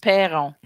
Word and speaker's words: Perron: It's pronounced Perron.